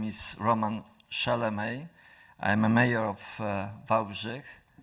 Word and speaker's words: Szelemej: Pronunciation, ladies and gentlemen, pronunciation was pretty correct. My name is Roman Szelemej.